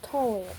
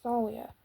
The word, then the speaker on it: Thalia: Yes, it is pronounced Thalia, not Talia, people.